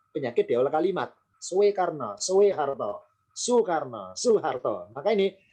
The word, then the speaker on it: Soeharto: Soekarno, Soeharto, Soekarno, Soeharto. Maka ini jadi peleburan dua bunyi O menjadi U sama di sini.